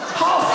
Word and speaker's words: half: HALF AN HOUR AND A HALF as as an L in it.